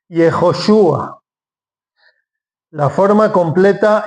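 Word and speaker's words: יְהוֹשֻׁעַ: Y Jejoshua. Perdón, acento en la U. Jejoshua.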